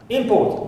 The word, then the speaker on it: import: Import also, if we stress the first syllable, it is a noun. Import. If we stress second syllable, import, it becomes a verb.